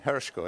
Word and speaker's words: Hershko: Is it Professor Hershko? I'd like to get the pronunciation right. Professor? Yeah, Hershko, yeah, correct.